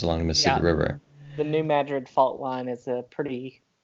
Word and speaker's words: New Madrid: a town in Missouri not named after uh the city in Spain right a lot of